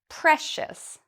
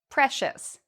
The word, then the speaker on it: precious: So we know we need to pronounce it like this, shus. Precious. Precious.